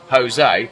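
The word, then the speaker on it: José: That's why if you find someone who's called Jose, they're called Jose. Even though it's spelt with a J. It's not Jose, it's Jose.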